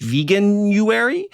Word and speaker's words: Veganuary: to be uh and I guess this is pronounced veganuary a time when people often try out and